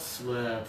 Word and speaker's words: slip: And now low tongue, breathe out, slip.